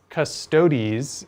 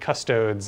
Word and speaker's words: Custodes: not know that um custodies is like by canon the correct way to pronounce that word yes they they've they've come out and said custodes is like wrong officially wrong which is funny because